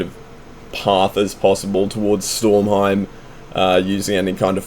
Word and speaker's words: Stormheim: going to want to fly over towards uh stormheim is how you say it you're going to want to fly over towards stormheim but in between surar and the broken aisles